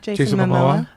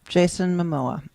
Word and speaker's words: Jason Momoa: Jason Momoa. Jason Momoa.